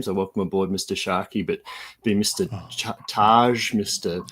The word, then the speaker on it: Tscharke: The silent T kind of gets everybody, and it's from the